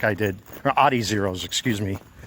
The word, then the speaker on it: Adizero: So in anticipation of that, that's why I ended up buying the Adizeros like I did, or Adizeros, excuse me. Trying to pronounce that in the German proper.